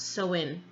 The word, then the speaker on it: Samhain: It's pronounced sow-win. And it is a pagan religious festival originating from an ancient Celtic spiritual tradition. In modern times, sow-win, which is a Gaelic word, it is usually celebrated from October 31st to November 1st.